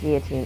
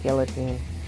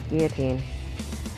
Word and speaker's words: guillotine: only being one star and yes it is pronounced guillotine it is not guillotine the elves are silent it is guillotine sorry small pet peeve there but that's it